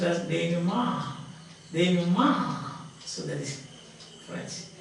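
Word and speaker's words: dénouement: It is pronounced as denouement.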